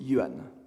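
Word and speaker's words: Minamoto: sur le continent chinois le nom japonais du célèbre clan des mines moto sera prononcée yuan il faut reconnaître qu'il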